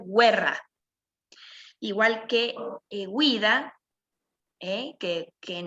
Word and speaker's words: guerra: como en español está por lo tanto la palabra 'guerra' se escribe igual que en español pero la pronunciación es diferente va a ser guerra igual que vida que